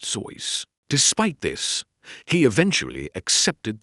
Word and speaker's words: Seuss: While the entire world says Suz, the man himself stated that his name actually rhymes with voice pronounced Zois.